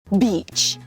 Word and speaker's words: beach: 안다 바음 없애주고 Al beach beach입니다 be 뭐냐면 해변이 beach 길게 해주셔야 돼요 안 그런 B 어